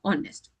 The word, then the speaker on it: honest: Naturally you're going to think this will start with a honest man but it is an honest man because in this word your h is silent.